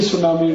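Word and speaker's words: tsunami: बोलते नहीं अंग्रेजी में एक शब्द है सुनामी कैसे लिखते हैं टी एस यू एन ए ए आई बोलते क्यों नहीं टी सुनामी टी सुनामी टी सुनामी कहते जी टी साइलेंट है तो लगाया क्यों हटा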